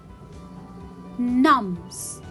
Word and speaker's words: numb: Numbs, numb, it will be a silent letter.